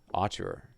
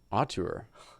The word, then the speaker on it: auteur: like cinematic Archer Theory Archer you know am I saying it wrong auteur what what explain it